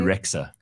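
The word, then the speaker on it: Bebe Rexha: BB Rexa.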